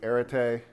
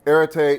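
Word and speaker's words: ἀρετή: There's a Greek word here, pronounced roughly arete.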